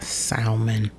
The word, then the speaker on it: salmon: wild caught sock eye salmon salmon it's not salmon that's my country coming out you do not pronounce the l in salmon and i said salmon